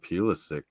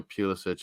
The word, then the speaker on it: Pulisic: Like Croatian sort of pronunciation. I think the English call it Pulisic.